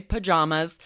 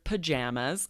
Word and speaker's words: pajamas: be upstairs in their pajamas, right? Yep. I also would say pajamas, but you'll definitely hear pajamas, or we shorten it even more and say PJs.